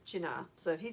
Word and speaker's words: Cynar: Now, Karina has asked, how is Cynar pronounced? We It look- is Cynar.